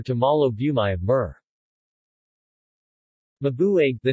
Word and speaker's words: Mabuiag: The name Mabuig, Mabuja, in English pronounced, a European mispronunciation, is fairly widespread as